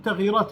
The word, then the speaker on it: تغييرات: في تغيرات كبيرة، يقولون تغيرات ولا تغييرات؟ نقول تغييرات كبيرة ستحدث عندنا في المنطقة اخواني الكرام.